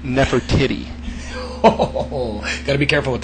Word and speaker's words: Nefertiti: Yeah, that would be pronounced Nefertiti.